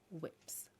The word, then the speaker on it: WIP: say about cross stitch i think whips sometimes i even say it like stewie from family guy whips so i've got one